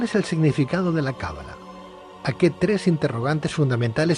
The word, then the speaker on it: cábala: buenas noches Pedro es cábala con el acento en la primera vocal cábala o cala a ver